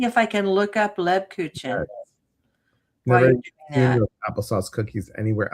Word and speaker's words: Lebkuchen: Can I tell you how to pronounce this? Sure. Lebkuchen. Lebkuchen.